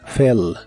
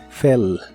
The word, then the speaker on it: fell: En el pasado es fell, la E se pronuncia normal y la doble L otra vez se pronuncia como una sola L. Fell, fell.